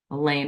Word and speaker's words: Elaine: Elaine rhymes with pain.